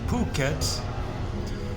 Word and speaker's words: Phuket: islands, Phu Quoc and Phuket. They sell t-shirts in Thailand because the pH is pronounced P. You don't pronounce the H.